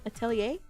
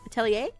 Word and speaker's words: atelier: I I want to pronounce it right for once but I just don't know which way. Atalier. Attel atier. Attelier. Atelier.